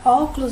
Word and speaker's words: óculos: A gente tem um acento aqui no O, então já sabe que esse aqui é a sílaba tônica, né? E aqui a gente vai ver onde é que ele tá, ó. Los é a última sílaba, cu é a penúltima e O é a antepenúltima.